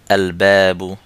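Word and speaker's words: الباب: হবে চলুন কিছু উদাহরণ দেখে নেই আমরা যেমন আল বাবু আল বাবু বাবুন এর নাকিরা বা অনির্দিষ্ট ফর্মটি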